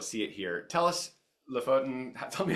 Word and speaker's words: Lofoten: Tell us, Lofoten, tell me how to pronounce it.